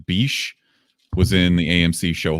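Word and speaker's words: Bishé: Also, Kerry, I think it's pronounced Bishe, was in the AMC show *Halt and Catch Fire*, which is pretty good.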